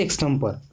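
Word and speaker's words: extempore: एक्सटेम्पो speech, एक्सटेम्पो एक्सटेम्पो बोलते हैं, आर इसमें साइलेंट होता है ना।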